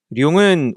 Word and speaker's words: 룡: 룡은 원래 발음은 룡인데요. 이제 우리가 그냥 보통 발음할 때는 용이라고 하죠.